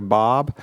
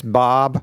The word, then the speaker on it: Bob: People don't understand when I say my name like in Starbucks or whatever. So like I'm like Bob and they like what? And I know that I know that Americans go Bob.